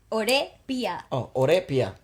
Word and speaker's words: O Re Piya: Oh, Re Piya. I'm just saying the inflection was a little off.